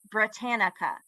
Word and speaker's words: Britannica: Britannica is how you say it, Britannica. And for every single speech, and we did 4 at the time, she cited Britannica.